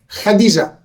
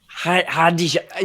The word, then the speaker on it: Khadija: How do you pronounce her name? Khadija. Khadija.